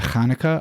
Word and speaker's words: Hanukkah: translations of the word some start with the word with ch as we just kind of talked about as you would pronounce it in hebrew which is hanukkah others prefer to angelicalize